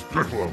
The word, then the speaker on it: Piccolo: My name is Piccolo. It rhymes with pickles.